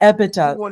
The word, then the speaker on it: EBITDA: EBITDA. Thank you. I have always, I've been mispronouncing it for years.